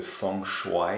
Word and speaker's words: feng shui: mon appart selon le fonds choix et c'est comme ça qu'il faut prononcer m maintenant mieux mais